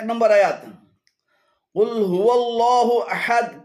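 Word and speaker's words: قل هو الله: এখানে কুল হু এবং আল্লাহু উভয়টি ভুল উচ্চারণ। শুদ্ধ উচ্চারণ হবে কুল হুয়াল্লাহু, কুল হুয়াল্লাহু।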